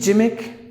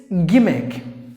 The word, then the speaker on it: gimmick: the next word is gimmick but don't say jimick not like jimick people would say Dahmer Jimmy key like that nah jus make its gimmick own letter is silent